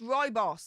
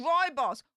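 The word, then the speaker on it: Rooibos: Oh Derek thank you Ruby boss is pronounced Roy boss the only guy I would have never thought of that this is pronounced as Roy boss why don't they have the why in rather than the I just asking for a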